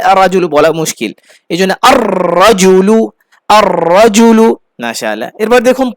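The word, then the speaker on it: الرَّجُلُ: আল রাজুলু, না আল রাজুলু বলা মুশকিল, এই জন্য আর রাজুলু, আর রাজুলু।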